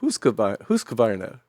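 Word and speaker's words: Husqvarna: And she said, "Huskavarna."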